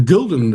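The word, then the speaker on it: Gulden: The golden.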